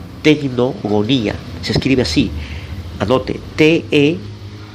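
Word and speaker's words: τεκνογονία: Ahí la frase tener hijos en el griego es tecnogonía. Tecnogonía. Se escribe así.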